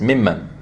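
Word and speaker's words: مِمَّن: And أُمَمٍ مِّمَّن مَّعَكَ, you pronounce it as if there was just one meme. أُمَمٍ مِّن. You said أُمَمٍ مِّن. It's mimman. So you missed the meme.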